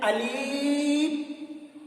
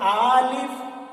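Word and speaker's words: ألف: कुछ लोग इसको कह देते हैं आलिफ, ये भी गलत है, बल्कि इसका सही प्रोनाउंसिएशन जो है वो हो अलिफ, अलिफ, अलिफ।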